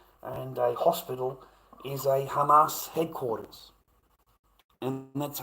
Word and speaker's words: Hamas: You know, a fucking doctor, mate, a senior doctor and a hospital is a Hamas headquarters. And that's a Hamas commander.